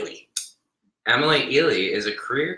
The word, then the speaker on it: Eley: Eley.